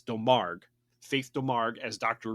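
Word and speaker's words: Domergue: films faith um delmar i had to look up how to pronounce her name properly and i actually found it it's del marg faith to marg as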